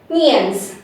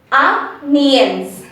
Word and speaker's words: onions: And you intermix N and Y sound over here. Nians. Nians. Okay? It's totally onions.